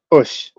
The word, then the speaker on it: osu: It's spelled OSU, and it's pronounced Ush.